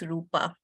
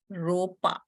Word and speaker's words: Rupa: a very kind Mentor somehow cannot pronounce Rupa she calls me ropa now you tell me is Rupa difficult for you okay and my last